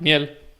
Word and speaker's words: miel: Like say for honey, exactly the same. Miel. Like miel, and it's French. It's like slightly different. Miel. And so I want to like pronounce it in French now rather than Spanish.